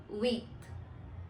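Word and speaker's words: huit: इज वीथ वीथ now this word starts from as इन my last video I told you that when ever you have a word starting विथ एच इट will always be silent and you have to start pronounce from the next letter so here we are doing the same we are just starting with you एंड वी are pronounce इट एज वीथ next is number nine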